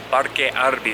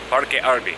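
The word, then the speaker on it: Parque Arví: I'm in Parque Arby right now. It's Arby Park, Parque Arby. They pronounce the V's like B's kind of, so it sounds like Arby.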